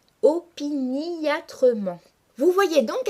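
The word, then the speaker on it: opiniâtrement: se mettent àindre opiniatrement opiniatrement est un adverbe qui se prononce classiquement en cinq syllabes opiniatrement mais pour respecter la métrique du poème le lecteur doit ici marquer la diérèse et prononcer une syllabe supplémentaire en disant opiniatrement vous voyez donc à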